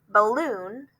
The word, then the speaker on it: balloon: with more oomph right balloon we usually say it like that we say that first syllable kind of shortened it's not the biggest